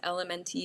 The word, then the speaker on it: LMNT: My favorite are the, it's called LMNT, it's spelled out.